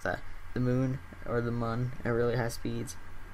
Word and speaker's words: Mun: the moon or the Moon it really high speeds actually I believe that has a two accents or the accent over it so I believe it is pronounced Moon but it doesn't have